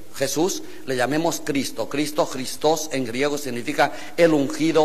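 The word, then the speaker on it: Χριστός: cristos Quiero recordar que los griegos de la de la Coin de la de los tiempos de Cristo pronuncian la eta como yota por tanto esta palabra se dice cristos igual que esta esta escribe con i cristos Y eso con eta pero la eta se lee I cristos lo que pasa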